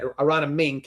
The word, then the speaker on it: Aronimink: In this case, everybody walked in about about Aronimink I may have said that right. Aronimink is how I how you say it, right? You got it.